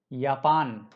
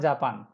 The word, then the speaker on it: Japan: And the most known word is Japan, not Japan. Means ये या है, ये यारे है, ये जापान है, not Japan.